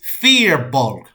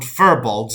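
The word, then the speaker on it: Firbolg: And as soon as I said those words, the guy I was sitting next to goes, "It's Fearbolg."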